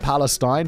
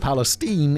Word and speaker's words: Palestine: only reason I know how to pronounce that as not Palestine, but Palestine, is because of that train that just blew up that entire fucking town with poison or some shit, allegedly.